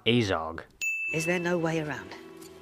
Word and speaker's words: Azog: in his flesh where are you getting this pronunciation from his name is azog not azog is there no way around not unless we